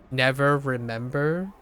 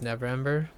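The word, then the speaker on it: Neverember: remember I remember remember I had trouble pronouncing never 's name cuz I uh have this habitual need to say never remember but I like adding that extra syllable but it's never Ember wait travel to never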